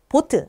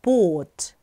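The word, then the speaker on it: Boot: 그것도 보트 아니고 보트 길게 발음해 주셔야 돼요. 자, 그런데 우리가 영어가 익숙하기 때문에 오가 2개 붙어 있으면 우 발음을 내고 싶을 거예요. 아닙니다. 오만 길게 발음해 주시면 돼요.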